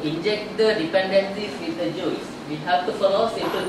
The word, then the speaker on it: Guice: Of the framework we can use to inject the dependencies, Google Guice, pronounce it as Guice, and it is an